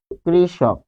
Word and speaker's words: কৃষক: এরপর আমরা পাচ্ছি যে কৃষক, কৃষক, তাহলে এটি হবে, উচ্চারণটি হবে ক্রি, তারপর মূর্ধন্য ষ থাকলে হয় তালব্য ষ, আর এখানে হবে ক, কৃষক।